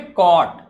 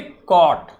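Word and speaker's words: caught: it, CAU, कॉ, GHT को हमेशा GHT नहीं, GH को प्रोनाउंस नहीं करना है, क्या बोलेंगे? ट। तो क्या बोलेंगे? कॉट।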